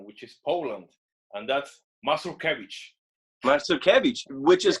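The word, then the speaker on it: Mazurkiewicz: and and he was like there is two pronunciations the american one which is masuka weeks and the original one which is poland and that's muscle cabbage so cabbage which is correct that's correct exactly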